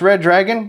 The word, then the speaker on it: Redragon: Pronounced Redragon, but spelled Redragon, this Shenzhen, China-based company